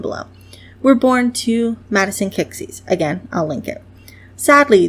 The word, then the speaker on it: Kiczys: Her last name is spelled weird. It's just a random mishmash of letters I threw down. And I pronounce it as Kiczys. So, Kalin Kiczys.